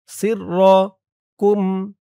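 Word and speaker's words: سركم: সিররাকুম ইয়ালামু ইয়ালামু ইয়ালামু সিররাকুম সিরর scene রজের সির র জবর র সিররাকুম ইয়ালামু সিররাকুম ওয়া জাহরাকুম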